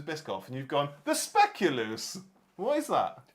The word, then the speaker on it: Speculoos: Either spell it or say it slower. Speculoos. Speculoos.